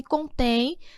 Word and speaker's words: contém: Qual é a sílaba mais forte? Contém. A última.